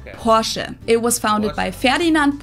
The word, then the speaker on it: Porsche: Porsche in German we say por so there's like this short a sound in the end por it was founded by